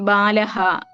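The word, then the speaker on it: ബാലഃ: ഇങ്ങനെ അച്ചിൽ അവസാനിക്കുന്ന അല്ലെങ്കിൽ സ്വരാക്ഷരങ്ങളിൽ അവസാനിക്കുന്ന പദങ്ങളാണ് നമ്മൾ ഇതുവരെ പറഞ്ഞിട്ടുള്ളത് അപ്പോ ഈ ബാലഹ എന്ന്വെച്ചാൽ ഹ അതിന്റെ ഉച്ചാരണം എങ്ങനെയാ വരുന്നത് അവസാനം അ എന്നാണ് വരുന്നത് രവിഹി ഇ എന്ന് സ്വരത്തിൽ അവസാനിക്കുന്നു വിഷ്ണുഹു ഉ എന്നുള്ള സ്വരം ഉച്ചാരണത്തിൽ അങ്ങനെയാണ് വരുന്നത് അപ്പോ ഇതിനെ അജന്ത ശബ്ദങ്ങൾ എന്ന്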